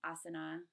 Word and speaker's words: asana: Usually you'll hear, so yoga, you'll hear it called yog, pranayama, pranayam, asana, asan, kumbhaka, kumbhak, bandhas, band.